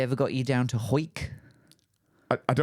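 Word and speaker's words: Hawick: But it's But it's spelled Hwick. Ho.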